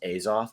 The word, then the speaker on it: Azoth: manipulated the use of it's pronounced azoth by the voice actors